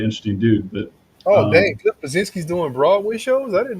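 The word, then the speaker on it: Bleszinski: I'm always say his last name wrong, but it's Cliff Blazinski.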